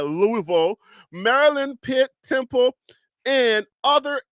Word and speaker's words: Louisville: State Louisville uh Louisville let me say the right say it right way the way they like to say it Louisville Marilyn pit Temple and